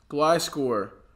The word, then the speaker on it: Gliscor: G-L-I and then score. Gliscor.